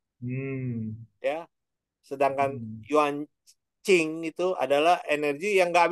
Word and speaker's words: Jing: Oh, yang Esensi Jing itu dibacanya Qing ya.